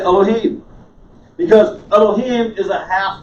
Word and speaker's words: Elohim: half of a circle elohim make sense you're going to cruise right past the syllable that has this in it you're going to say it quickly you're going to go right and if you say